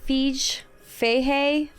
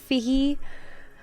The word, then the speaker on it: Feige: Not Feige, Feige.